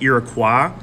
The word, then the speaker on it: Iroquois: Did you know the term Iroquois is actually pronounced Iroquois, but the proper term for this group is really the Haudenosaunee.